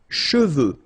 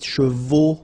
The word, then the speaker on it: cheveux: Sèche, okay, sèche, and then cheveux. Usually this one is a bit of a problem because some of the students normally pronounce it chevaux, okay?